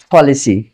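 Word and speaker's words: policy: Aspirated মানে হচ্ছে মুখ থেকে বেশি পরিমাণে বাতাস বের হওয়া।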